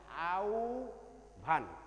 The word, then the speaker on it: আহ্বান: করি তোমরা বুঝতে পেরেছ এই আহ্বান অনেক উচ্চারণ করে আহ্বান কিন্তু আহ্বান হবে না মূলত মূলত উচ্চারণটা সঠিক উচ্চারণ হচ্ছে আউ ভান আউ ভান দেখবা যে